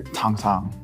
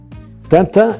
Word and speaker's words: Tintin: Is it pronounced Tintin or like the French say there, Tang Tang? Tintin is how it was developed.